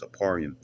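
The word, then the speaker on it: אפרים: Ephraim goes and uh how you say it in Hebrew and stuff it's apparium you know I'm saying a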